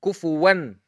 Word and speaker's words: كفوا: Why I pronounced the noon? Because following the noon is hamza. And the hamza is one of the 6 letters of izhar.